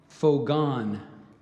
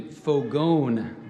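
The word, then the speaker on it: fogón: San Charlie again and your word is for gone excuse me fogon my mispronunciation fogon this word is from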